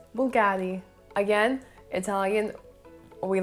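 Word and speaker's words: Bvlgari: i completely get it i guess people can pronounce it vulgari vulgari i mean it's weird bv we never see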